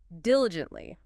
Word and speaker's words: diligently: Okay, next is diligently. Diligently. Diligently. 4 syllables. Stress on the first.